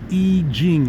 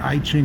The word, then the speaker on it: I Ching: that got added the I Ching, and I'm now pronouncing it correctly instead of calling it I Ching.